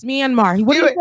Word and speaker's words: Myanmar: When I see any hats, pickup trucks, you know, people that are the man can't even pronounce Myanmar. What did he say? Minimum.